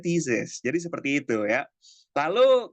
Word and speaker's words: thesis: Nah, ini di scientific text yang pertama ada si tesis ya, cuman bacanya bukan tesis kemarin. Bacanya apaan, Kak? Bacanya thesis.